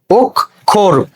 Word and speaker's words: অক্ষর: শব্দের শুরুতে একই নিয়ম, তাহলে শব্দের শুরুতে অ আছে, অ এর পরে ক্ষীয়, তাহলে অটা কি হয়ে যাবে, ও হয়ে যাবে। তারপরে কয় হসন্ত, ক্ষয়ে ওকার, বয় বিন্দু রয়ে হসন্ত, উচ্চারণ কি হচ্ছে অক্ষর।